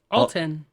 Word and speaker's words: Alton: TOS Cobble what how do you say that Alton Alton yeah a l t o n to